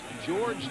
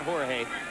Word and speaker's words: George: Along the offensive front, rookie free agent George Diaz, he pronounces it George, not Jorge, out of Texas A&M Kingsville, goes against Chester McLaughlin.